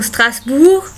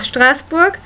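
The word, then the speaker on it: Strasbourg: of maybe still Strasburg oh stas like they say there but the German pron pronunciation is Strasburg and uh another city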